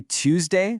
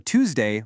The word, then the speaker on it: Tuesday: Whether you say Tuesday with that little yes sound or Tuesday without it, you're actually correct either way.